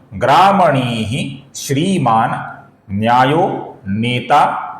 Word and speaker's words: ग्रामणी: ग्रामणी का जो विसर्ग है इसके आगे श्री का श आने के कारण विसर्ग का हल्का सा श उच्चारण होता है।